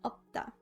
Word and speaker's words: 없다: 없어요 in dictionary form is 없다, pronounced like 없다.